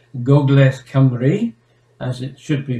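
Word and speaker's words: Gogledd Cymru: part of north wales or shall we say gogles camry as it should be pronounced which is one of the southern where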